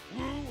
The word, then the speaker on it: Wu: Imagine that line with the Dynasty Warriors 9 pronunciation of Wu. It would be where you don't say the first consonant, so it's just ooh, ooh, or ooh.